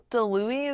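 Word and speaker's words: DiLouie: Craig DeLuey, is that how we say his name?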